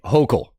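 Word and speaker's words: Hochul: Matt, her name is pronounced Kathy Hokll.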